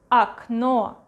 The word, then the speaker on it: окно: Окно, окно, окно. Окно. And this one, A, окно.